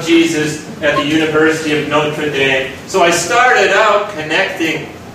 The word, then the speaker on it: Notre Dame: dame okay this see that this is from notre dame or notre dame we pronounce it in in the university of notre